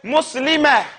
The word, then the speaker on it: Muslimah: So you say Muslimah. And you have to give that extra blow of air.